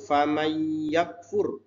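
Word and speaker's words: فمن يكفر: Mad Jaiz munfasil lalu famay yakfur jadi tulisannya faman yakfur Tapi bacanya fam yakfur termasuk Idam bunah lalu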